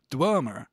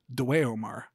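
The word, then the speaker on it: dweomer: have a consistent pronunciation EO is pronounced between E and O so it's a uh it's something like uh which tells us that the magic system in this world is pronounced dmer rather than dwar the other big thing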